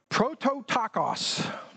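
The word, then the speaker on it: πρωτότοκος: In fact, it's a difficult word to pronounce, so I wrote it down. It's prototakos.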